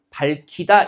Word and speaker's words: 밝히다: 기역과 히읗이 만나서 거센 소리 키읔으로 발음이 되면 어떻게 됩니까? 밝히다 이렇게 발음되는 게 맞습니다.